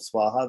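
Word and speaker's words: स्वाहा: So the first syllable of Swaha, the 17th syllable of the mantra is Swa, right, with a long A.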